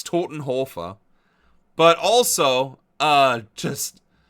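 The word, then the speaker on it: Todenhöfer: Jurgen Totenhurer. What a guy. First of all, that's not how you say it. It's Totenhofa.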